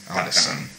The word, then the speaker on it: Ottoson: Now, that's spelled OTTOSON. Yeah, JAKEOTTOSON. Audison.